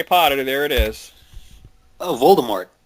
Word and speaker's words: Voldemort: Ah, I actually knew that because uh that's how JK Rowling says it. So, yeah, Voldemort.